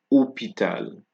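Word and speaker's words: hôpital: from the o right the H is silent here you have estwara and not history and opital so we have um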